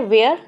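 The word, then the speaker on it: where: Next है वेयर, वेयर, इन दोनों का प्रोनाउंसिएशन सेम है क्योंकि यहाँ पर आपका जो एच होता है वो साइलेंट होता है।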